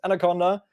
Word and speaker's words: አናኮንዳ: It's called Anaconda. I've already saw it, and you see it in the stream title. Their writing is a little bit different than normal, but they are pronounced Anaconda.